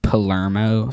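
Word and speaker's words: Palermo: It's uh pronounced Palmo spelled P A L E R M O I think. Um I think so at least.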